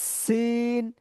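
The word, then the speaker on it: س: এই আর কি, যেমন সিন, আমার মুখ দিয়ে যখন সি এই সিন এরকম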